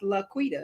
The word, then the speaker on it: LaQuita: thousand different ways and it's like it's laquita it's pronounced the way it sounds right so charlene harold